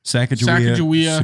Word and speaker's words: Sacagawea: But it's kind of like Skakawea. How do you say it? Sacagawea, Sacagawea.